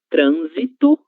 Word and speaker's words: trânsito: Mas no caso dessas duas palavras, a letra S vai ter som de Z do português. Então, trânsito, trânsito e no trânsito, trânsito, som boceado e transitório.